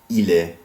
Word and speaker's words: il est: end of on est, the T takes is a silent letter. So the pronunciation for the E part of the elle est, il est, on est sounds exactly like tu es.